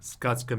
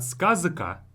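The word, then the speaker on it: сказка: Skaska means a fairy tale. Skaska. So this z comes before a voiceless consonant k. That's why it's not skazaka, but skaska.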